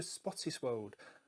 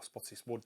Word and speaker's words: Spottiswoode: that was directed by Roger Spottiswoode, or Spottiswoode depending on how you want to pronounce it.